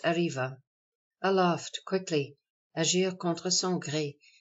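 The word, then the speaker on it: arriba: arrests either in civil or criminal suits Spanish pronounced Arriva Aloft quickly Asia Contra song to mount a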